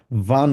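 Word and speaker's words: wann: আমরা বলবো হচ্ছে কি ভান বলবো, কারণ আমরা ডাব্লিউকে উচ্চারণ করি হচ্ছে ভে এর মতো।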